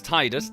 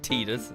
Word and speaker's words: Tidus: Uh, so the absurdly dressed main character here, uh, his name is Titus. No, I'm not pronouncing it Tedus. It's ridiculous. Um, so yes, this is Tidus.